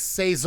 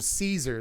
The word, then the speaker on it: Cesar: Apparently you're supposed to pronounce his name that way. I called him Caesar the first time I said anything about this guy, and everyone was like, actually his name is Cesar, which is weird because